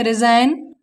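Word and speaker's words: resign: For example, R ई एस आई जी एन, तो यहाँ हम देखते हैं एन से पहले आया जी साइलेंट है। और यहाँ दूसरे एग्जाम्पल में एन से पहले आया हुआ जी हमारा क्या है? साइलेंट है। इसे पढ़ेंगे रिजाइन, फॉरेन, नॉम, डिजाइन, साइन।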